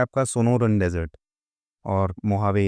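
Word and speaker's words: Mojave: यहां पे मोहावे की स्पेलिंग एम ओ जे है। ठीक? स्पेलेल इसको करते हैं मोहावे। ठीक है? बट बोलते हैं लिखते हैं मोजावे।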